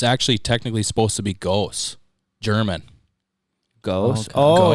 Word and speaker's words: Goos: It's actually technically supposed to be Goose, German. Goose. Oh, Goose.